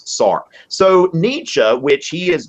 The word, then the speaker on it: Sartre: So Fred, so you've got Nietzsche and Sartre, which you know, Sartre be, you know, pronounced a few different ways, but the most common English pronunciation is Sartre.